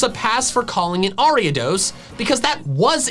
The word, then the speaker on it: Ariados: The first part of its name is from Ariadne, the princess from Greek mythology that gave Theseus some twine to help him navigate the labyrinth. The pronunciation Ariados makes sense, but I call it